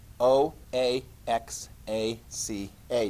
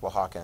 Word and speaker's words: Oaxaca: population it's called oaxaca you're like oaxaca yes o a x a c a do you see that in there i had no idea that was pronounced oaxacan until somebody actually told me that that's pronounced